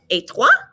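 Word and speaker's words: et toi: o and so it's etwa notice that the ET there's no T sound it's an a sound we see this on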